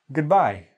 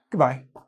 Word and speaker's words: goodbye: another native speaker probably goodbye even two consonants add too much goodbye goodbye I barely even say the O's I just say like goodbye okay old friend now